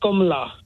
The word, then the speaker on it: Kamala: It was comma, as in the punctuation, followed by la. Which is very counterintuitive because it's all A's. K-A-M-A-L-A is pronounced O's.